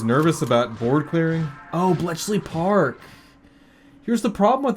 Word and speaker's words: Bletchley: Bley Park. Bletchley.